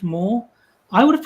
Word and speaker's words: Meagher: It's pronounced Moore. I would have pronounced it Ma.